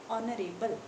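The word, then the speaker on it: honorable: तो यहाँ पे साउंड जो है ऑनरेबल स्टार्ट एच के साथ हो रहा है, but sound is ऑफ ओ, ऑनरेबल। एच is silent, ठीक है, एच जो है यहाँ पे साइलेंट है आपका।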